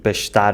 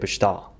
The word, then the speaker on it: pastar: The Azorean accent takes this transformation of diphthongs even further to the extreme. Boi becomes “bô”, "viu" becomes “vi” and "pastar" (grazing) becomes “pastâ”. Here, there is also a